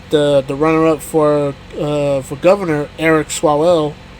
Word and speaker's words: Swalwell: little event with the runner-up for governor, Eric Swalwell. Right. That's how you say his name. The current candidate, right? I'm gonna botch his name, so I apologize. Yeah, Eric Swalwell.